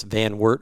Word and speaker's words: Van Wert: the story of I'm going to say this, Van Wert, Ohio.